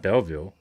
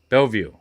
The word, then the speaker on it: Bellevue: son-in-law is from Belleville that's not Belleville Bellevue yeah Bellevue Michigan training